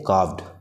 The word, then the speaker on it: carved: एंड कार्व्ड, इसको देखिए इसको हम पढ़ते हैं कार्व्ड, CARVED, इसमें R साइलेंट होता है, इसको हम कार्व्ड पढ़ते हैं।